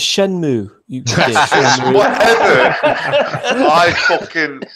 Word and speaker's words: Shenmue: Shamu. It's not it's Shenmue.